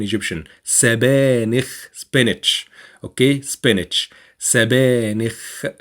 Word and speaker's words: سبانخ: سبانخ, and make sure to pronounce the kha at the end.